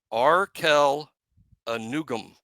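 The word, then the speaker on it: Arkel Anugwom: Arkel Anugum is how you say the kid that we got from Ball State.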